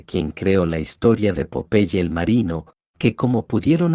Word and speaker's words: Popeye: Empecemos por decir que el nombre de Popeye en realidad es un vocablo inglés que se pronuncia como Popeye y significa ojo saltón,